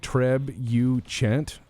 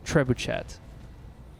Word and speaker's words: trebuchet: europea or whatever but out here in the united states and freedom of america it's pronounced trebuchet there's gonna be trebuchet